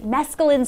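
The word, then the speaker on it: mesclun: employee in close proximity was packaging exposed ready mesculin salad that's how you say that word this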